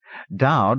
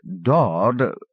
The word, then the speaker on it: Dowd: Dowd was not quite Dawd, not quite Dode.